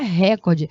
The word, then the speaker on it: recorde: Não é recorde. Se você fala em português, a pronúncia é recorde.